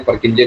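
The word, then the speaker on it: Purkinje: लेकिन हम देसी तरीके परकिंजे करके प्रोनाउंस कर देते हैं।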